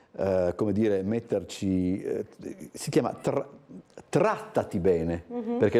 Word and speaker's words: Trattati: Con le nostre ospiti parleremo, come dicevo prima, di un'iniziativa che, tanto per come dire, metterci, si chiama Trattati bene, perché l'accento, desumo, va sulla prima A.